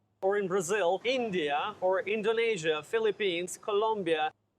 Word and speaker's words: Indonesia: We do not use the long A like day and say, we use the long E like green beans. Indonesia. Neezh, that's the stressed syllable.